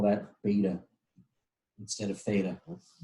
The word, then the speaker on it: beta: going to call that beta instead of theta rhymes with theta not data and yes the ground